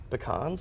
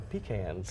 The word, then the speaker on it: pecans: that's unusual all right do you pronounce it pecans or pecans pecans oh okay interesting you'll